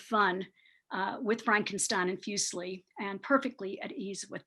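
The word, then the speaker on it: Fuseli: the beginning here um i pronounce the name fusely uh as i've been saying it fusely like muesli the you know the swiss uh cereal and he is swiss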